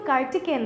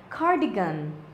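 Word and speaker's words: cardigan: ইউজ করে থাকে কার্ডিগান কার্ডিগান অনেকে কিন্তু কার্টিকেন বলে এটাকে সেটা কিন্তু ভুল উচ্চারণ বলতে হবে কার্ডিগান কার্ডিগান পরবর্তীতে আমাদের জন্য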